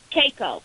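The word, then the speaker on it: cacao: Caco. Is that how you say it? C-A-C-A-O.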